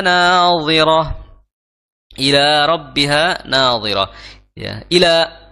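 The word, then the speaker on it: إلى: Ila rbiha Nadir ya Ila jangan sampai illa ya karena berbeda artinya kalau Ila artinya ke menuju Ya tapi kalau illa itu artinya kecuali ya karena ada tasdidnya jadi bacanya Ila rabbiha Ila rabbiha nadiroh nadoh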